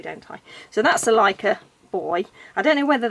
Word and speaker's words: Licca: I'm saying it wrong in my head I was always saying liquor body but it didn't sound quite right and then I heard someone say like on another video so